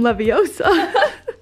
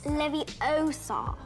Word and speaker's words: Leviosa: She said Wingardium Leviosa. You're saying it wrong. It's Leviosa, not Leviosa. Oh.